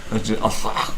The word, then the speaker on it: Arthug: Arthug. Arthug. Arthug. It's like the name Arthur, but you're being pierced through the throat as being pronounced.